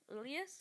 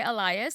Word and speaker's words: alias: life, but change everything like al like alias. Alias. Alias. Okay. I can never remember which pronunciation I said wrong and which one's actually right. I was about to say Elias.